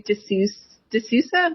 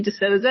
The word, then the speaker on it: De Sousa: Most people say De Sousa, but it's actually De Sousa, and you got really close.